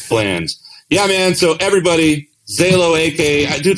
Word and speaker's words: Zaalo: low get low but it's a short o zelo i'm going to wander down the streets of vegas tonight just yelling just honestly like picture butthole retracting and that's how you say my name it you just said